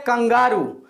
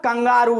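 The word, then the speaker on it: kangaroo: आप बोलेंगे कंगारू को इंग्लिश में क्या बोलते हैं, तो आप बोलेंगे सिंपल सा कंगारू ही बोलता है, बट इट is incorrect pronunciation. इसको इंग्लिश में कैंगरू बोलते हैं, कैंगरू, KANGROO।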